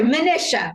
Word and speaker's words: Manisha: I say your name right I'm terrible at pronunciation not to worry Manisha right oh my God rise with psha oh